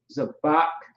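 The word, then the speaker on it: זבח: so sacrifice is everything so it's a thought zabach is how you pronounce that all right let's keep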